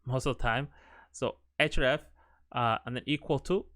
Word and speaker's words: href: uh this is called attribute it's called href href that's how it's pronounced most of the time so href uh and then equal to and then you